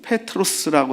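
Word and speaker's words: Πέτρος: 게바라하리라 하는 이 말, 이 케파스, 이건 아람어지만 이제 베드로는 페트로스라고 하는 헬라어의 이제 이름이죠. 번역된 이름이죠. 그래서 원래 원명은 페트로스라고 이제 이게 정확한 발음입니다. 헬라어 페트로스.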